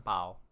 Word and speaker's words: bao: One thing about Chinese, they kind of spell it with like the very hard word, but when they pronounce it, it's sort of like softer.